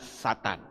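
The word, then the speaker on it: שָׂטָן: ditulis dengan kata setan ditulis dengan 3 huruf syin teknum membacanya setan Saya tidak tahu kenapa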